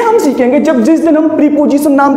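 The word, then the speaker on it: preposition: हम सुनते आते हैं प्रीपोजिशन प्रीपोजिशन, लेकिन प्रीपोजिशन नहीं होते हैं ये, इनको कहते हैं प्रपोजिशन। सही प्रोनाउंसिएशन होता है उस वर्ड का प्रपोजिशन, और ये इंग्लिश के प्रपोजिशन है।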